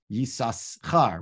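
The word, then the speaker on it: Yissachar: Natati Shivchati Leishi, Vatikrashimo Yisachar. We pronounce it the first time Yisachar and then Yisachar with a silent a sin in it.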